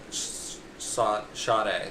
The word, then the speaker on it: Sade: No, by Sade. That's how you say it. Actually, I'm not saying it wrong. It looks like it's like Sadie or Sage, but I found out because